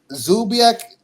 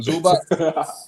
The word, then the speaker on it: Zubac: Zubak I wish Zubak I keep saying that name wrong. Zubac I wish he would get more credit but I don't know.